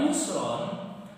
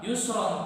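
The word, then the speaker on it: يسرا: Maka apabila ro di situ diwaqafkan atau diberhentikan, maka cara membacanya bukan yusron tapi yusro, 2 harokat panjangnya.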